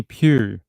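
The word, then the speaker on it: Pugh: that last name again how did Pew we pronounce it like like Pew in a church okay so ebony Pew like in a church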